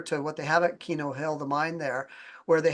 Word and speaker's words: Keno Hill: Yes, Keno Hill, like the gambling game Keno.